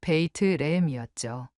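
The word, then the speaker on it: בית לחם: 처음에는 예루살렘이나 베들레헴처럼 잘 알려진 도시들부터 시작했는데 히브리어 발음으로 읽어보니 우리가 알고 있던 것과는 전혀 다른 소리였습니다. 예루살렘은 예루샬라임이었고 베들레헴은 베이트레헴이었죠.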